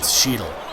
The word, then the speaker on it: Cheadle: So, yeah, it's Cheadle. Rhymes with needle, or Don Cheadle, or Beetle.